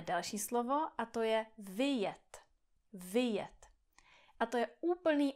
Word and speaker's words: vyjet: Tohle slovo má dva vokály, dvě slabiky. I, e. I, e. Vyjet, vyjet. Vjet, vyjet. A když tady zredukujete ten první vokál a řeknete něco jako vjet, vjet, vjet, tak můj český mozek si řekne vjet, vjet, vjet, vjet, vjet. Můj český mozek to pravděpodobně bude interpretovat jako to první slovo, jako vjet.